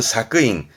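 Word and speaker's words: 索引: 발음은 사크인, 사크인.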